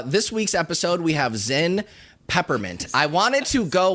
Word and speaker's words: Zyn: that silly nonsense here's here's what's going on Zen you ever heard of it Z YN it's spelled well let me tell you there are